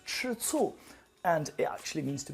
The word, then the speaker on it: 吃醋: So this one is pronounced 吃醋, and it actually means to be jealous at someone.